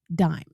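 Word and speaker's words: disme: And in the early age of the Republic, it was spelled d i s m e, even though it was still pronounced dime.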